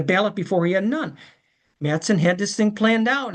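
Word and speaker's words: Matteson: Now, we can argue about the pronunciation. Madison. Governor Madison. I worked with a person from Matson, Illinois, and it was Matson as far as she was concerned.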